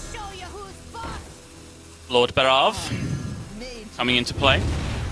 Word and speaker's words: Barov: As the one and only time you will hear me try and pronounce it correctly, according to Celestalon. And now back to our regularly scheduled Lord Barov.